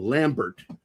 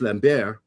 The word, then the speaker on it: Lambert: Uh with Christopher and now we say we call him Lambert. The original is Lambbeair. Lambe. That's how they pronounced it.